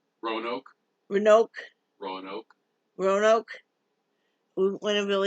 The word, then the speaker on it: Roanoke: Renoa? Roanoke.